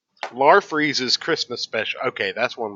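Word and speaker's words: Larfleeze: lar freezes Christmas special lar freeze was the orange lantern oh is that how you say them lar freeze yes very actually I knew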